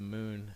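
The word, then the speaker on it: Mun: uh I know the moon in this game is spelled muu n I still pronounce it with the long u Moon although I know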